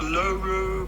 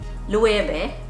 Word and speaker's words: Loewe: how do you go about pronouncing this name it's not logo but rather level that's what it sounds like to me but look i'm